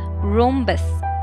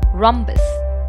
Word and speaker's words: rhombus: are not ninety degrees it is often incorrectly pronounced as rhombus please remember our hom is not pronounced as room but ROM so the correct pronunciation of the word is rhombus parallelogram is a flat shape that has four